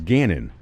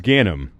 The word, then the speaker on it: Ganim: Connecticut election video correction ganim's name was mispronounced as Gannon we don't respect him enough to care for your reference it's ganum hmm for mobster mayor